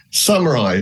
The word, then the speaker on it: Samurai: to get it wrong Samurai as in the Warriors Samurai digital samai there